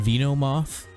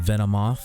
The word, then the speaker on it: Venomoth: He says Venonat and Venomoth. Obviously, it's supposed to be Venonat and Venomoth. It's based off the word venom.